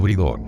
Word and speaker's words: Brideog: Ver fotografía 6, a estas muñecas se las llama Bidi, o si prefieren gaélico, Brideog, pronunciado Bridog.